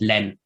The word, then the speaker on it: lund: Danish but it's um it's basically written like the German word Lund or the English word land but it's pronounced in Danish Len so that he is also silent and in North Christian